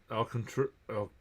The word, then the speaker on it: Alcantara: Al Alcantr- Al- Alcantra. It's spelled Alcantara, but they they pronounce it Al- cantra.